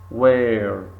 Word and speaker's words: where: silent here interesting interesting where where not where not where don't say where but where so H silent where thumb thumb very